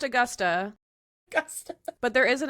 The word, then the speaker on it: Augusta: Oh, Augusta, Virginia. Okay. It's still pronounced Augusta.